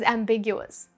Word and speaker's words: ambiguous: ambiguous and cause confusion the accent is on the second syllable big which you can remember because something that is ambiguous can lead to Big misunderstandings what else can be